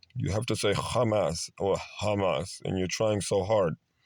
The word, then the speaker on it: Hamas: the Israelis and then some of them try to say the ha instead of the actual letter but uh let's move